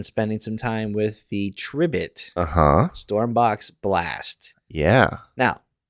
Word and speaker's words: Tribit: I have been spending some time with the tribit uhhuh stormbox blast yeah now I'm resisting the urge to call it the tri bit yes because I subsequently found out from previous